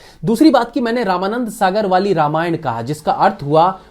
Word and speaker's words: रामायण: रामायण की पंचलाइन भी तो यही है ना, आवर ट्रूथ आवर हिस्ट्री।